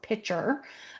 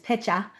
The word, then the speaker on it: pitcher: And I really, again, being from Massachusetts, I really have to pronounce my R's there. So pitcher, as opposed to what my parents say, which is pitcha.